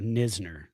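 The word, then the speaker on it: Knizner: The KN So, you have the silent K and then the ZN in the same name.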